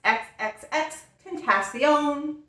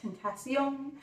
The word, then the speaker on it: XXXTentacion: XXXTENTCION. I guess you have to say it like that. Tentacion.